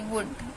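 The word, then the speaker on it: would: क्या है शुड हम बोल रहे तो एल साइलेंट हो गया अपने आप ऐसे वुड एल के बाद डी आ रहा है तो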